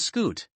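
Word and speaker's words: scute: by plates called Scots the pronunciation of skewit is the same as scoot scuts also form segments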